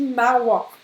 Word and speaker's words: Mauer: Donc, dit Mauer. C'est presque un A, un peu ouvert, hein, dit Mauer.